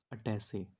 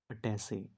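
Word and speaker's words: attaché: Next है अटैसे। अटैसे, इसकी spelling क्या होती है?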